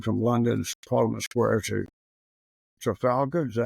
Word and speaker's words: Trafalgar: ceremonial avenue leading from London's Parliament Square to Trafalgar. Is that how you pronounce it?